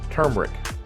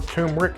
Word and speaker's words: turmeric: Number 3, turmeric, or turmeric. I hear people pronounce it both ways, but I'm pretty sure it's turmeric.